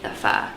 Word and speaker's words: pho: We're gonna start with the pho. So I used to say it wrong. I used to say pho until I realized the correct pronunciation. It's Yeah, pho.